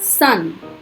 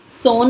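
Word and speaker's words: son: अब अ साउंड जैसे सन, सोन नहीं बोलेंगे सन, पुत्र, कम आना।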